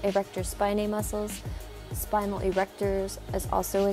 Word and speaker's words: erector spinae: feeling this muscle last we have the erector spinae or spent spiny some people like to say I pronounce it erector spinae muscles spinal erectors is